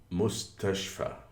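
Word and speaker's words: مستشفى: the word's syllables, like mustashfa. Mustashfa means hospital. It could be divided into mustache and fa. You can consider fa is far pronounced in a British accent.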